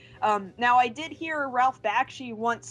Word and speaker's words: Bakshi: was never sure if is it Bakshi or Bakshi? It's actually Bakshi. I used to always pronounce it Bakshi too, but no, he pronounces it Bakshi.